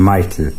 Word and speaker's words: Mychal: joined the Franciscans to change his name to Michael and it's spelled different spelt my chal he spent his life